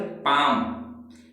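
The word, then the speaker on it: palm: इसे पाल में नहीं पढ़ेंगे, पाल में, पाल में नहीं पढ़ेंगे, पाम पढ़ेंगे। क्यों कि एम से पहले हमारा एल लिखा है, देखिए एम से पहले लिखा हुआ एल साइलेंट रहता है।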